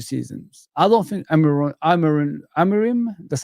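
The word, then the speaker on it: Amorim: I don't think Amaran Amarim, that's how you say his name.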